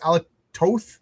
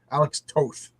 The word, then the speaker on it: Alex Toth: John, you pronounce Toth's name like both, not so it's Alec Toth. Is that how you pronounce it? I've been saying it wrong for decades. Then, Alex Toth.